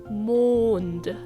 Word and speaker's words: Mond: When trying to pronounce these two words, just remember to relax your jaw and make as much room in your mouth as possible. Mond. Just like as if you would say moon, but with more of